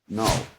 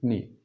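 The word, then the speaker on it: knee: No, il y a un cas mais on ne prononce pas le cas. On dit no. No, d'accord ? On dit pas kn ou kni ni leou ni.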